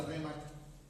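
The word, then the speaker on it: ῥῆμα: Con respecto a cómo es una rema, cómo recibe la rema. La palabra en el griego J-R-E-M-A, rema.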